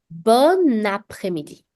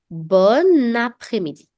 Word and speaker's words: bon après-midi: And we pronounce it like this. Bon après-midi. Bon après-midi.